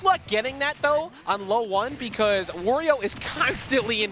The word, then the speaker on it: Loe1: of a typo that should be low one loe one not leo one i promise yeah we'll